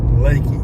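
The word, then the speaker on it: Leakey: mount Hills would be Lakey it's it's l e a k y pronounced Lakey beautiful morning for a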